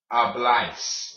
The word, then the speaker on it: habláis: Like if you were saying, aye, Captain, the A and the I next to each other make the I sound, like in this word right here. Okay? This word right here is pronounced habláis, okay?